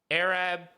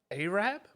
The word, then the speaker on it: Arab: Now, I mean, the only thing that could really kick off is if Arab. Why do I say that word so weird? Arab? Yeah. How do you say it? Arab. Arab?